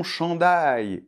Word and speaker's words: chandail: Donc au début CHAN . Alors attention, CH [ʃ] comme « chocolat ». Et AN avec la nasale , un peu comme un A, mais c’est plus nasal ici. Et ensuite, on a DAIL . Alors, DA et après on fait un [j]. DAIL . D’accord ? Alors, ça nous fait donc .